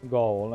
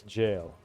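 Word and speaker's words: Gaol: I also notice I sometimes keep calling ever goal and sometimes I keep calling it jail. It's jail. I think it is always pronounced as jail. Because it really just the old English word for jail.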